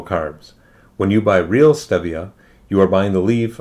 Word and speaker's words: stevia: and what is steviaside stevia is the plant some people pronounce it stevia because the spanish word for it is stevia between you and me